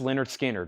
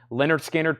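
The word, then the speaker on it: Lynyrd Skynyrd: $29.99 it's the classic it's the great pronounced Leonard Skinner $29.99 those are actually Music On Vinyl pressings that are $39.99 now they're $29.99 Leonard skinnard pronounced Leonard skinnard $29.99 pronounced Leonard skinnard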